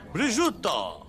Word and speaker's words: prosciutto: Cream of asparagus with a crisp prosciutto. That's how you pronounce that.